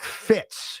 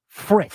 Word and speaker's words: Fritz: Well, you certainly don't because you keep saying his name wrong. It is Jack Fritz. Fritz. I'm sorry. R I T.